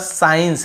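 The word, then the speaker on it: science: देखिए साइंस हम केवल एस के बाद साइंस ऐसे पढ़ रहे हैं एस को यहां पे स् काइंस स्कास ऐसे नहीं पढ़ रहे यहां पर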